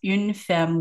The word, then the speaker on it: Une Femme: So on social, it'll all be in the show notes, but on Instagram, it's Une Femme Wines.